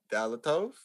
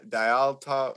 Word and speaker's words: Dyatlov: We talked about the Dalatov, right? Is that how it's pronounced? Dyatlov Pass. Dyatlov.